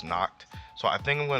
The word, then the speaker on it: Nacht: And see, let me know down below if you guys pronounce his name Noct or Natch, because like I was saying Natch before, but people have told me that it's Noct.